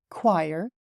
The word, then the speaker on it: choir: But in reality, this is gauge, and this is choir, and the pronunciation of this word is kernel.